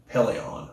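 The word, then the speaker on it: Pellaeon: novels we finally saw him uh also the Pelion peleon that's it that also hooks but it's not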